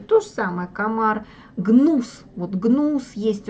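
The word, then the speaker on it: gnu: последнее слово и цельную гнул антилопа гну ну потому что не произносится буква g и так вот они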